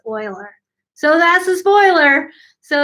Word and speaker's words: Euler: is that Oilers name rhymes with oiler not ruler it's not Euler you don't say you